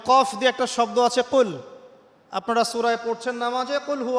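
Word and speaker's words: قُل: কিন্তু আপনি যদি কফ এর মাখরাজটা ভুল করেন এবং কফ না বলে আপনি ছোট কাফ পড়েন এবং কুল না পড়ে আপনি কুল পড়েন বলেন যে কুলহু আল্লাহু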